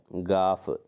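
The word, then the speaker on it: گاف: ഉച്ചാരണം ഗ എന്ന ഉച്ചാരണമാണ്. അപ്പോൾ ഈ അക്ഷരം പല കുട്ടികളും മിസ്റ്റേക്കായി വായിക്കാറുണ്ട്. ക എന്നുള്ള രീതിയിലൊക്കെ വായിക്കാറുണ്ട്. ഇത് ക അല്ല. ഏതക്ഷരം? ഗ എന്നതാണ് ഈ അക്ഷരം. പ്രത്യേകം ശ്രദ്ധിക്കണം. അക്ഷരം ഗാഫ്.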